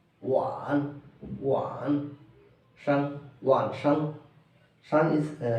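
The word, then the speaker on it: 晚: Wan. It pronounced like one. Wan.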